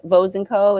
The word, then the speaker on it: Vosenco: It's just my my name with two e dupi and vosenco is pronounced um like toes with a v.